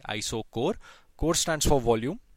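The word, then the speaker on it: isochore: तो इसको हम कहते हैं, इनको हम कहते हैं आइसोकोर, ठीक है, CHOR। We read this as कोर, मतलब this is pronounced as K, आइसोकोर।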